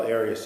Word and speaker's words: Arias: Have you always pronounced it Arias? I've heard it pronounced about seven different ways. Um, I say Aras as does the rest of my family.